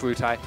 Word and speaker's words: Luhtie: It's pronounced Lutai.